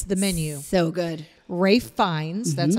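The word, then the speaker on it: Ralph Fiennes: plot twists people it's the menu so good Ray finds that's how that's pronounced who uh these are characters you the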